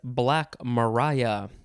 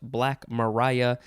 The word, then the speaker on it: Black Maria: don't know june 29th the first word is black mariah it it looks like it's black maria but it is pronounced black mariah two words the b and the m are